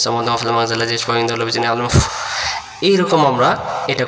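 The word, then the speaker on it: يَشْفَعُ: আইন অক্ষরটা গলা চেপে আদায় করব আমরা। এই জায়গাতে আমরা যদি বলি ইয়াশফা'উ, উ উ, তাহলে হামজা পেশ উ, আইন পেশ উ একই হচ্ছে। জি জি। আইন অক্ষর হলকের মধ্য থেকে একটু চেপে পড়তে হবে।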